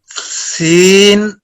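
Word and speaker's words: سين: Seen, pronounced as seen, tip of the tongue comes between the front top and bottom teeth.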